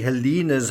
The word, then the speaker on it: Halyna: heard elaine is sorry it's actually helena's husband i think the pronunciation of her husband really settles it it's helena and she he actually